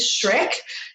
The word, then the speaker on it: Schreck: It is Schreck. It is spelled a little differently to what you will see if you're thinking of the movie.